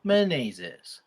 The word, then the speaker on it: Menezes: Last name, Menezes.